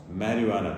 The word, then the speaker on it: marijuana: It may be spelt with J or H, but it's always pronounced marijuana. The J is never pronounced or emphasized.